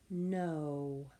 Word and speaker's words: know: Our last word is know, as in I know. I am smart. Know. We have a silent K, and then we have N-O. Silent K first. N-O.